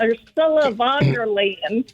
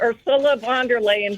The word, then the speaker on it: Ursula von der Leyen: Ursula von der Leyen.